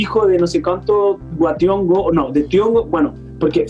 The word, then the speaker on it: wa Thiong'o: thiong'o que partió diciendo que no se llaman wa thiong'o porque no se pronuncia de hongo de hongos como tronco es como se pronuncia distinto y es muy hermoso